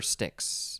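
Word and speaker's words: Styx: over the sticks and that is the river sticks and stixx is spelled s-t-y-x and there's a band called stix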